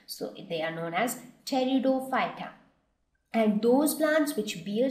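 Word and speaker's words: Pteridophyta: seeds were known as teroy so here P silent when we pronounce it so they are known as teroy and those plants which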